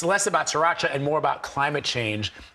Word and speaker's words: Sriracha: Yes, sriracha, and I learned how to say it properly, sriracha, from your documentary.